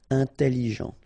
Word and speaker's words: intelligent: Intelligent. Final T not pronounced. So G-E-N. Jean. Ok. Intelligent. Double L. It opens the pronunciation of your E. So it's E. Intelligent.